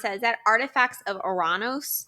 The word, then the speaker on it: Uranus: How would you pronounce that? Is that Artifacts of Uranus? Uranus.